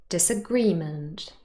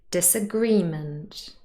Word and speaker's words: disagreement: Agree is the root word and that is stressed on the second syllable. It is a verb. And if we add the prefix dis and the suffix ment, it doesn't change the stress. Disagreement, stress is on the third syllable.